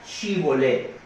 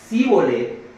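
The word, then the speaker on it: shibbólet: Si aquel respondía que no, le pedían que dijera shibolet. Y si decía síbolet, porque no podía pronunciarlo de otro modo, lo agarraban y lo mataban allí mismo junto a los vados del Jordán.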